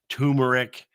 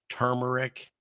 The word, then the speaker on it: turmeric: TV, music, uh books, turmeric, turmeric, can't even say it right. You got to get that other R in there.